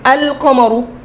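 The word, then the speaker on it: القمر: আল কমারু। উচ্চারণ করতে তো সুবিধা, আল কমারু।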